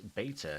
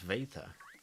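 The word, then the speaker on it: βήτα: The Greek letters beta is actually pronounced veta.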